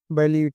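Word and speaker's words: bailiwick: अब बिस्वा है बैलीविक, इसका प्रोनाउंसिएशन होता है बैलीविक, इसका मतलब होता है कार्य क्षेत्र, अधिकार क्षेत्र।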